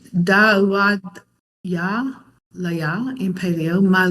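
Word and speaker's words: דוד: Dave pronounced it Daweed. Is that how Dave? I think that's how he's pronounced it. That is how it's usually pronounced in the modern Israeli Hebrew. And you could pronounce it David, or even Dude. I always thought that was kind of funny. In the Paleo, it's Da'uad, and this word means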